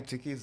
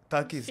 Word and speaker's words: Takis: Mafia, any new Tiki's items? Tiki's items? Takis.